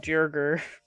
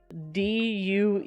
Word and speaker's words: Duergar: I always say wrong, Jurger or something. That's fair. Do you think it'd be like a German J? There's no J, it's a G. Let me spell it for you. Alright, so it's Duergar.